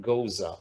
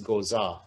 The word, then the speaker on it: Goza: named joel edward goza that's an italian goza not a japanese gozah although it's spelled the same this young man lives